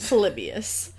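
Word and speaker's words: Polybius: How do I pronounce his name? Exactly how you did. Palibius.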